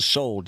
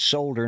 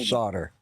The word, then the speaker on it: solder: Ugly ex-wife oh okay you pronounce it sold yes I know it's sold it's solder not solder okay cool all right